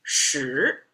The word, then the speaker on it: 十: Now, the intersecting vertical line, make it into a 10, pronounced as 十.